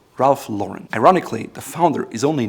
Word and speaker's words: Ralph Lauren: The company says the proper way to pronounce it is Ralph Lauren, like the name Lauren. Ralph Lauren.